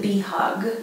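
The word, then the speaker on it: bihag: I'm working with is called be hug and it's spelled b i h a g it's a Filipino word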